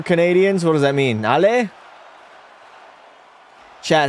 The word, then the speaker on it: Allez: Allez is let's go. Allez les Canadiens. Allez les Canadiens. Allez les Canadiens. There we go. No S. The S is silent.